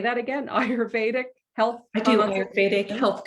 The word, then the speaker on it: Ayurvedic: She's also a certified, and I want to make sure I pronounce this right. It's IIU practitioner? Ayurvedic.